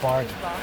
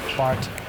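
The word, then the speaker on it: Barth: and splendid raffles doorman it's the th at the end it's German Bart Bart don't pronounce the th yes just to make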